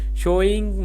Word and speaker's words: sewing: It is pronounced like the word so. It is not pronounced like the word you. A sewing machine and not a sewing machine.